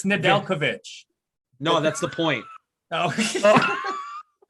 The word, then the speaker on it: Nedeljkovic: How do you say the goalie's name? Nedjlovic. I'm a good goalie pronouncer. Remember? Nedjlovic. No, it's Nedeljkovic.